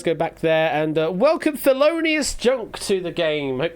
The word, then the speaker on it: Thelonious: Loinius, is it? It's pronounced as Thelonious.